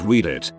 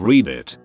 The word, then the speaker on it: Reddit: on a similar note i used to pronounce reddit as read it instead of read it boy did i feel dumb